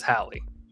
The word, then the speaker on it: Halle: just googled it because someone just said it's pronounced haley i googled it yeah google says halle so i'm [ __